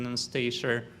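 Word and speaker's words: Анастасия: In Russian, it is pronounced with the stress on iya. Anastasia.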